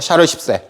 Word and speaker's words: 샤를 10세: 발음 잘해야 됩니다. 샤르 10세.